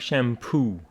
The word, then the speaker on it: shampoo: shampoo a bottle of shampoo with a stress on poo a dollar of a